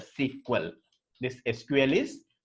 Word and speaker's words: SQL: to test that SPM this SQL is pronounced as a sequel this SQL is pronounced